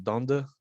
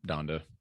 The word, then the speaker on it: Donda: Donda? Yeah, Donda, Donda.